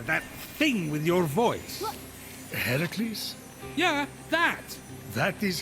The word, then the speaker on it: Heracles: Heracles? Yeah, that. That is how it's supposed to be pronounced.